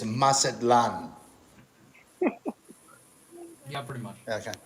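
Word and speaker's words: Mazatlán: ] she lives in mazatlan which is on the other side of mexico and she does uh she uses i believe the uh pronunciation is masadlan yeah pretty much i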